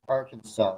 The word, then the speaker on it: Arkansas: of the word, but it is pronounced Arkansas according to the law.